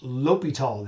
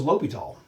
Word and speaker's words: L'Hôpital: but it is called l'hopital the h is silent in french so this is called l'hopital's rule who is it named after a guy whose last name was l'hopital and that's going to